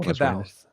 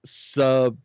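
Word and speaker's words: C'baoth: I've always said Caboth because it's C. So it's not. It's Sabaoth. That's bullshit. Yeah, that's how it was spelled out phonetically, and that's how Zahn explained it.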